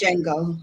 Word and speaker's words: Django: It's kind of like the Django, if you will. I think they said the D is silent, so it. It's Django. just Django.